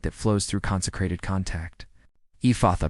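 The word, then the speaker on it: Ephphatha: Ephatha pronounced ephatha. E f a soft breath. F opens wide. Let the mouth open fully as you say it.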